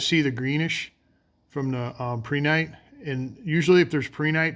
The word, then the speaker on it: prehnite: That's how I pronounce it. I think some people pronounce it prinit. I don't know which is probably the second one's the correct way to do it, but I like saying prehnite.